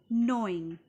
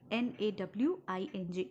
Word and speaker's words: gnawing: This is called gnawing. G is silent over here. Nawing.